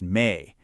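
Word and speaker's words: 美: So this is the character for beauty, pronounced Mei, and it's actually built from two smaller, simpler characters.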